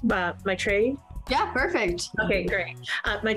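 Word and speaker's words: Maitreyi: uh please help me if i get your name wrong uh my tray yeah perfect okay great my tray um what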